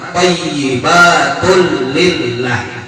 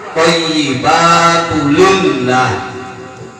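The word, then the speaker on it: ٱلطَّيِّبَاتُ لِلَّهِ: Jadi lam pertama jangan bertasdid, jangan thayyibatul lillah, salah. Yang benar lam yang kedua thayyibatul lillah.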